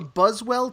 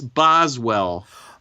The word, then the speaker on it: Boswell: this episode yeah the buzz well to his Johnson I couldn't find any its Boswell oh that's why but it's pronounced strangely in this and it does sound like Buzz well but it's Boswell this is funny I'm